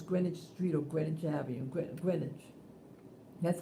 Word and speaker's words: Greenwich: on greenwich things greenwich street or greninja avenue greenwich that's how i pronounce it um yeah so when i